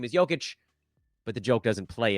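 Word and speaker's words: Jokić: Obviously, I know his name is Jokic, but the joke doesn't play unless you mispronounce his name.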